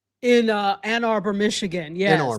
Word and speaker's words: Ann Arbor: Were you you said you were born in I think it was Auburn M Michigan in uh Ann Arbor, Michigan. Yes. Ann Arbor, right? I said it wrong.